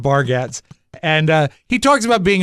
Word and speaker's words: Bargatze: I think it's pronounced Bargatze.